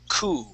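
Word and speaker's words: coup: o sound we say cou so that P is going to be silent there okay please repeat that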